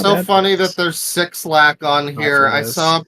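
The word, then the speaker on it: 6LACK: You know, it's so funny that there's six lack on here. I saw a pronunciation video that claimed that sixlack sounds like sex lack or lack of sex because there is never enough sex in our lives.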